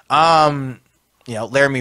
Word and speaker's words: Laramie: Laramie rhymes with Jeremy.